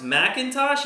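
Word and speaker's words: McIntosh: Sports Betting Chick says, think it's still pronounced Macintosh, even with no A?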